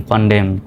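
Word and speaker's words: condemn: ও এন কন ডি ই এম N Dame কনডেম তাহলে Solomon নয় ড্যামন নয় কনডেমনও নয় তাহলে সঠিক উচ্চারণটা হবে সলেম ড্যাম কনডেম নয় নাম্বার নিয়ম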